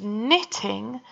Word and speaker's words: knitting: last one gran is knitting me a new sweater if you got the silent K on the beginning of that word as well give yourself a hell